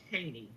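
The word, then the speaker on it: Cheyney: It's called Cheney.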